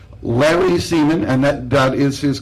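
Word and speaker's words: Semon: Larry Seaman comedies what's that you say Larry Seaman and that that is his correct name and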